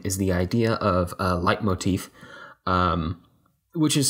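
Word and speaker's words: leitmotif: to sound design is the idea of a light motif um which is spelled a little word a little weird it's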